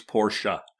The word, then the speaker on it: Porsche: Like the family prefers Porsche. Porsche. Okay. I just didn't see the A at the end of it. Well, E is pronounced A. It's pronounced. It's not there, but it's pronounced.